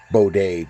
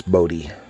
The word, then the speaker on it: Bode: is the work by Von Bode or Modi I guess is how they say his name's supposed to be it always looked like it's supposed to be Bode to me but I guess his son Mark says it's boaty but I I prefer